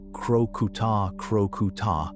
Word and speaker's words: Crocuta crocuta: A spotted hyena, or Crocuta crocuta, pronounced crocuta crocuta, weighs somewhere between 90 and 190 lb.